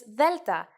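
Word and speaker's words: δέλτα: Its name is delta, and it sounds like th.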